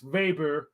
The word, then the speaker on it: Weber: the right oh like how they call Max Weber Max vber the German pronunciation that make it harder